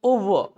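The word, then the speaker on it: over: इज नॉट ओवर इट्स ओवर। क्या है ये ओवर, आर बचना है, आर के उच्चारण से। कहीं भी इंग्लिश में अगर अच्छा उच्चारण करना है तो आपको आर के उच्चारण से बनना, समझिएगा।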